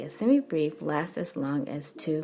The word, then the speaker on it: semibreve: to say also that I have been saying semi brave I just like saying degree but it's semi brief I believe that's the accepted pronunciation so just know that